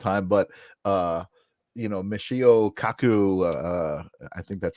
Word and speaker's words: Michio Kaku: down all the time but uh you know Michio Kaku uh I think that's how you pronounce his name correct yes you know he